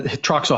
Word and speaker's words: Trachsel: So the Troxel House, right? And first of all, it's spelled wrong. It's Trachsel is how they spelled it back in 1756.